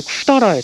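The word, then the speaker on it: 百済: 내린다 뭐 그런 뜻이니까 백제가 일본어로 발음이 쿠다라거든요. 전혀 일본을 좀 배우신 분은 아시겠지만 음으로 읽으면은 왠지 느낌이 학구 사이 이런 느낌으로 돼야 될 거 같은데 혹은 학구이 근데 쿠다라해 전혀.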